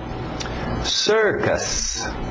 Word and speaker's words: circus: Embora parecido, não tem muito a ver em termos da pronúncia. Então, cuidado para não falar circus. É sir, aquele velho som de water, sister, circus.